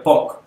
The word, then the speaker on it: pug: o como la cola del pug se pronuncia pock que es enroscada tipo